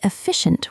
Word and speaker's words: efficient: And efficient, it starts with an F sound, even though it is spelled with E. Efficient, short E. Efficient, like effect.